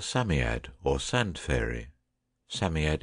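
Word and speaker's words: Psammead: ed or sand fairy Sammy ed is pronounced Sammy ed it was old old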